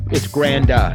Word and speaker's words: Granda: It's Granda. Yeah, Granda. It's Grand with an A at the end.